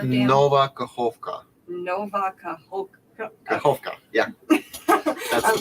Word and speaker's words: Nova Kakhovka: I can't pronounce. What is it? Kaverkar Dam, Kovkar Dam. Nova Kakhovka.